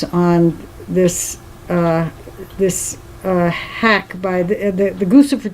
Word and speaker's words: Guccifer: How do you say that? Guccifer, Guccifer 2.0. Lucifer too? Yeah, It does kind of sounds like Lucifer.